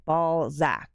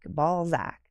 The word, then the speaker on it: Balzac: a place called Balzac it's spelled exactly like you think it is b a l z a c z a c ball Zack ball Zack yeah Sebastian you can